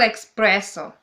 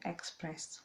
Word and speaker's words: espresso: double cappuccino it is okay express no it's espresso espress okay oh i'm having lessons on how to to pronounce coffee i mean it's my accent i haven't it's not accent it's it's just there is no k it's espress okay another